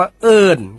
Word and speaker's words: เอิ้น: ขอ เสนอ คำ ว่า เอิ้น ครับ เอิ้น เขียน สระ เออ อ่าง สระ อิ ไม่ โท น หนู รวม กัน แล้ว อ่าน ว่า เอิ้น ครับ เอิ้น เป็น คำ